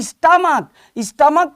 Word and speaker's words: stomach: और स्टमक चूंकि यहां पर CH का प्रोनाउंसिएशन का है, इसलिए इसका प्लूरल ये स्टमक्स होगा, STOMACHS।